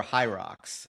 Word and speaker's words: HYROX: Uh you train for Hyrox.